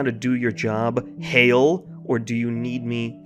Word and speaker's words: Hale: Great to be back and part of the team again, sir, but it's actually pronounced Hale.